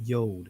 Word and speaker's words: yod: pull this over here this letter right here is called the Yad and the Israeli language is called the yod but it's it's the ancient pronunciation of this is the Yad right this letter means